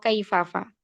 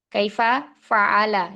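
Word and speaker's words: كَيْفَ فَعَلَ: Seperti contoh dalam Al-Qur'an itu alam taro kaifafa. Kaifa fa'ala ya. Kaifa fa'ala rabbuka. Nah, biasanya kita membacanya itu alam taro kaifafa. Padahal fa yang kedua itu adalah milik dari kata fa'ala.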